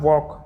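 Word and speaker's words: walk: पास में आ रहा वॉक तो वॉक में क्या जाएगा इसमें साइलेंट रेटर है एल यानी कि एल का हम उच्चारण नहीं कर रहे हैं नेक्स्ट लेटर हमारे पास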